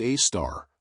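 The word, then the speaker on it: Sagittarius A*: There, about 26,000 lighty years away, lurks Sagittarius, a asterisk, pronounced a star, a super massive black hole with the mass of about 4 million suns.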